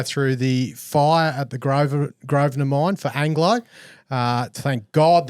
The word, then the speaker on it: Grosvenor: We're going to go through the fire at the Grosvenor mine for Anglo.